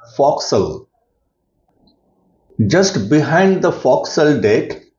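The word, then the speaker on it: forecastle: Front portion of the deck is called for castle and it is pronounced as foxel.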